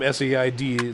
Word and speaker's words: Said: say his last name saaid looks like said but Boris when they